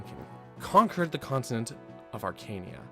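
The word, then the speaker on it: Archanea: conquered the continent of Arcania some people say Arcania I don't know Arcania just sounds more correct to me but AR I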